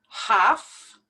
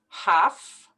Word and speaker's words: half: right here digest digest half we don't pronounce the l half com now some people